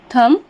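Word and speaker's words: thumb: B silent हो जाएगा जैसे कि थम बी लास्ट अक्षर है उसके जस्ट पहले एम आया है पर इसे हम थम थंब नहीं पढ़ते हैं थम पढ़ते हैं जिसका हिंदी मीनिंग क्या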